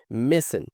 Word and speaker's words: missing: dois I aqui, ó, missing. E aqui a gente não pronuncia esse G, tá? A gente não precisa pronunciar esse G quando tem ele no final da frase, então fica missing. I got in touch with Crab Simmons' ex-girlfriend, Leticia.